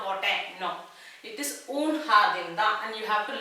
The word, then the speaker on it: jardín: நான் வந்து una jardín அப்படின்னு நான் போட்டேன், no, it is un jardín தான், and you have to learn by heart. So un jardín, ஜேங்கிறது her pronunciation.